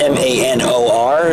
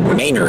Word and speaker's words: Manor: Even though it's spelled M-A-N-O-R, they pronounce it Manor here.